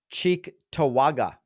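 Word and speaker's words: Cheektowaga: you want to get you wanna you wanna pronounce the next part because I I leave that always to you cheek tawaga there it is okay so Buffalo New York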